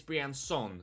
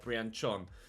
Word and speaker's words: Brian Son: But apparently it's Brian Son, not Brian Chon, as I've previously been calling him.